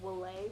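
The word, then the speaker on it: Vale: took a lot and the way that you pronounce veil is actually will a but I guess they call it veil or the colsole I don't know that's my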